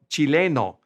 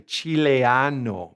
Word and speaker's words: chileno: and they are called Chileno. A lot of times English speakers want to say Chileano, but it's Chileno. Chileno.